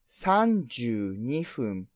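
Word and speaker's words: 三十二分: example to understand clearly 32 minutes is sanju nifum because square number is three and it's sum and then triangular number is two i mean and it's fun type so 32 minute is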